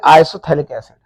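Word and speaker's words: आइसोफ्थैलिक एसिड: इसका जो दूसरा नाम है, कॉमन नेम कह देंगे इसे आइसोथैलिक एसिड। आइसोथैलिक एसिड, आइसोथैलिक एसिड, pH silent होगा जैसे ये थैलिक है।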